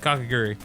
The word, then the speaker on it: Kakegurui: KAKEGURUI.